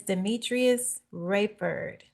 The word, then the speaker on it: Demetrius Rayford: Miss Demetrius Rapford, did I pronounce that correctly?